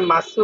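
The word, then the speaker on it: ます: যে শব্দগুলো শেষে মাস থাকে, মাস, এগুলো হচ্ছে ভার্ব। এটা মাসু উচ্চারণ হবে না, মাস উচ্চারণ করবেন আপনারা। ঠিক আছে? ইকি মাস, হি মাস, এভাবে উচ্চারণ করবেন।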